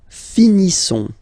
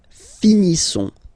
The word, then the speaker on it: finissons: Nous finissons. Okay, I-S-S-O-N-S. Issons. Nous finissons. Finissons. Okay, final S not pronounced.